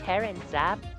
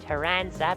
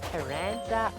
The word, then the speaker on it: Taranza: And yes, I keep alternating between Terranza because that's how I've been calling him my whole life and Teranza because that's how Air Riders pronounces it which you know Taranza aside from being how the game itself actually pronounces the name is corrector just because it sounds more Like tarantula. You won't say tarantula.